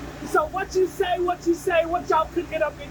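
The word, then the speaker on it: Wutyasay: What you say is spelled W-U-T-Y-A-S-A-Y.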